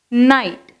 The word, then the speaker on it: knight: Next, knight. K N I G H T. Knight. So namba in the silent letter G H vachi in the words எழுதியிருக்கோம்.